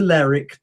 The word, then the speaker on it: Lerwick: and the Shetlands have the capital city spelt L-E-R-W-I-C-K.